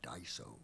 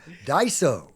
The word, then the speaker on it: Daiso: I I can see that we go there for the Japanese dollar store, Daiso.